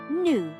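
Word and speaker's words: 女: This specific Chinese character is pronounced "nu" and it actually means woman.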